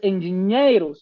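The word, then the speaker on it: engenheiros: Tienes un sonido ñ es el equivalente a la n conti de la ñ del español. Por eso es engineeros y no engineeros.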